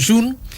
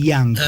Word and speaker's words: Jung: ¿Y ustedes siempre, a propósito de la pronunciación, siempre eligieron Jung? Bueno, le decimos Jung. Mi abuelo sigue reivindicando el yang, que es como se debe decir, porque es inglés. Sí.